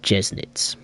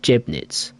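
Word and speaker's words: Jeßnitz: you can correct me i think it's called jessnitz because i always called it jebnitz because it looks like a b obviously uh but you pronounce the weird looking b as an s or at least i think so right let's not screw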